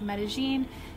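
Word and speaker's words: Medellín: tips for Medellin and yes they pronounce it Medellin in Colombia let me know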